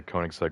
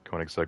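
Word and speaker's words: Koenigsegg: I used to just say Koenigseg one, but that would be incorrect. It's maybe like Koigseg one to one or just one one because it's meant to be like a ratio.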